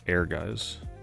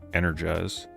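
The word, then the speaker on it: Ehrgeiz: apparently had it confirmed the way that you pronounce this is Air Guys. All these years when I was younger I used to say Energize.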